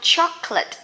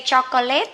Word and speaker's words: chocolate: And this one, chocolate cake. Don't say chocolate, okay? This is chocolate.